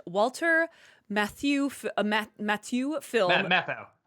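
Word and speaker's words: Matthau: the Jack Lemon Walter Matthew ma Matthew film mathau matau dang it I knew I was G to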